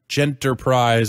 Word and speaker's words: Genterprise: A search of the developer's website shows the phonetic pronunciation in Japan is Gentapuraizu. So it seems common sense to go with Genterprise as in gentle.